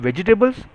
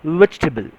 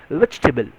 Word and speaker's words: vegetable: But I'm sorry, they are not called as vegetables. They are pronounced as vegetable. See the spelling. Vegetable. I repeat, it's vegetable. It's not vegetable. We call it vegetable. It is not vegetable. It's vegetable, right?